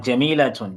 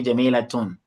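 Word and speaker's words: جَمِيلَةٌ: Like Jamilatun. Jamilatun is not, you can't say Jamilatu, you say Jamilatun. Because it has a masculine form, Jamil.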